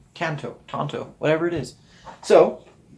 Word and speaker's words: Tanto: of lost it there so the American pronunciation here showing kind of like the Lone Rangers companion tanto one Tanto go again